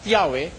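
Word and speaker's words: Yahweh: na ang pangalan ng Diyos eh pino-pronounce na Yahwe. Sabi nila eh while it is almost if not quite certain that the name was originally pronounced Yahwe this sabi nitong mga nag-translate nito this is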